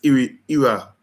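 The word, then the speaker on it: Iraola: It's Iriola, Iriola. Iriola, and it just pronounce it properly, especially cuz that's a Spanish name.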